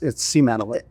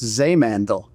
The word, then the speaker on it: Simantel: How do you say Seamantle? It's Seamantle. I mean, if you look at the roots, it's Seemandel. It's 100% German.